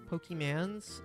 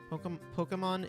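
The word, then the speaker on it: Pokémon: Pokemans. It is Pokemon. Pokemon is the correct pronunciation.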